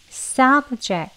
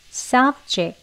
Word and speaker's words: subject: 주제 라는 뜻의 단어입니다 두가지 발음이 있는데요 싸부 제 그리고 싸 억제 이렇게 두가지입니다 아름 교 보도록 하겠습니다